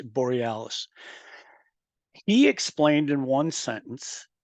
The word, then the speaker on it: Borealis: All right, so that conversation, that sentence right there, that I said his name wrong, it's Borealis.